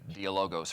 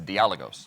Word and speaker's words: Dialogos: dialogos series um uh I was mispronouncing it dialogos for a long time until until a Greek speaker walked up to me and said hey there's an accent it's dialos all right dios thank you